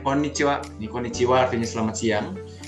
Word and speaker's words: こんにちは: Cara pengucapannya konnichiwa.